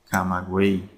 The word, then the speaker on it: Camagüey: Porque la Y no se pronuncia como en yate o en yegua, ¿verdad? Sino que se pronuncia como I latina, buey, camagüey.